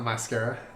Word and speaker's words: mascara: bottom scare - okay did you know that there's a first syllable - where I'm called Matt gnosis Kara it's your scary it's not mascara okay now you're gonna bronze